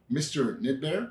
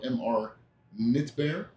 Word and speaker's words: Mr Knit Bear: I always tell them the K is silent the bear is not and then it's very